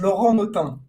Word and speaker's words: Laurent Notin: So, hi guys, my name is Laurent Notin. That's how you say it.